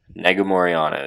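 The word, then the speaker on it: Negumereanu: call him nick it's nikolai but nick negomoriano negomoriano is how it's pronounced he's fighting kennedy and chequa kennedy in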